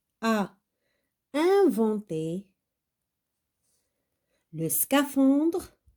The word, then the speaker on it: scaphandre: L'homme, L-O, l'homme, donc le H, on ne le prononce pas. Bonnet, la lettre T. Rouge, la lettre E. Le scaphandre, la lettre E.